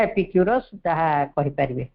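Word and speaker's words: Epicurus: वेनेक भी जाने नथवे दर्शन ज ग्रीक दार्शनिक एपीक्यूरस एपीक्यूरियस बा एपिक्यूरस ज उच्चारण ले एपिक्यूरस का नामित दर्शन ग्रीक ना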